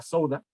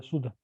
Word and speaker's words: Suda: que se llamaba la Souda, el Sí. léxico bizantino. Se llama Suda, Eh, la Suda. Suda, ¿te pronuncias Suda? Sí.